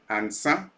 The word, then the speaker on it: Ansah: My first encounter was with somebody by name Apostle Samuel Ansa. Last name is spelled Ansah, a Ghanaian national who has a church in United States.